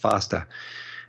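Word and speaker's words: FEASTA: um and an excellent analysis for the Foster group that's f-e-a-s-t-a but pronounced faster and he points out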